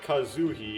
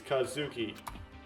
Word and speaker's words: Kazuki: a girly name uh it's not kazuhi it's Kazuki oh sorry I I heard